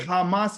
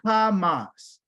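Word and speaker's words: חמס: They call it Hamas in English, but their real name is Hamas.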